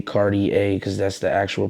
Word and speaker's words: Cartier: just avery overall i actually um was saying cartier a but my man d he he reached out to me he like i think that you should just say cardi a because that's the actual pronunciation of the word